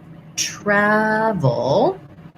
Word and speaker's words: travel: syllable stress, trouble, versus travel. Travel also has first syllable stress, but it has an A, black cat vowel. that we were just talking about with apple, travel, and then the V sound, v, you want to